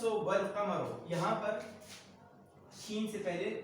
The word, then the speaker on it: القمر: تو الشمس والقمر، یہاں پر شین سے پہلے لام کا استعمال ہے لیکن تلفظ میں نہیں ہے. یہاں پر لام کا استعمال ہے لیکن اس کا تلفظ بھی ادا کیا جاتا ہے.